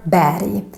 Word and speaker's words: berg: When you see this, you should think that it should be pronounced like an English Y. For example, in the word berg.